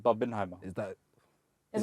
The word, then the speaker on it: Barbenheimer: You didn't say that right. Say that again. Barbieheimer. Barbenheimer. Say it properly. Barbin. It's Barbenheimer.